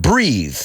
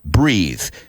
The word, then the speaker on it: breath: e at the end breathe but as it if you see it written in Spanish breathe and the noun is breath so I've heard people say I can see my breathe in the winter no I can see